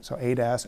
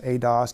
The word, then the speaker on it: ADAS: So ADAS, ADOS, depending on how you like to pronounce it.